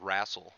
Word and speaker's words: wrestle: i said the word rassel which is the way we pronounce it down here in the sticks it's a very country